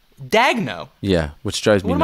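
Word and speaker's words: Daigneault: Thunder for instance mark what I would say Daniel like a JJ Daniel but he says it's Mark dagno yeah which drives me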